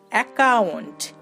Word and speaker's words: account: এখানে যে আমরা ডাবল সি দেখতে পাচ্ছি এর জন্য কিন্তু প্রথমেই আমরা ক ব্যবহার করে ফেলেছি, তাই এখানে আমরা OUNTটার উচ্চারণ করব আউন্ট, অ্যাকাউন্ট, অ্যাকাউন্ট।